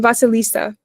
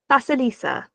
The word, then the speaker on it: Vasilisa: Um, Vasilisa. Vasilisa.